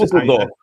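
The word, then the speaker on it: Düsseldorf: Dusseldorf.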